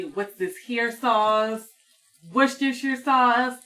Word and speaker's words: Worcestershire: A lot of people don't know how to say Worcestershire sauce. There's like that joke, like where people say, "What's this here sauce?" Worcestershire sauce. It's Worcestershire sauce. I think that's how you say it.